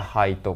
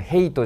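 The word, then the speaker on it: height: でではいザハイトですねこれが単位ですよねハイトって発音しますからねこれヘイトじゃないからつけてねはい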